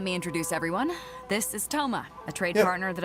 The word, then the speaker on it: Thoma: pronounced Toma and not Thoma or Sama.